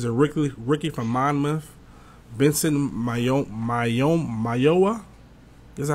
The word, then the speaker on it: Mayowa: Vincent Mayowa. Is that how you say it? Yeah. Mayowa.